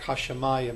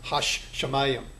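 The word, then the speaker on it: הַשָּׁמַיִם: forth but in reality when you pronounce the word it's really going to sound more like hashamayim not hash shayam so you have again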